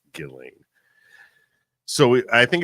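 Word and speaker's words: Ghislaine: of his cohort galain Maxwell spelled gisling but pronounced Gilling so I think it's appropriate for us to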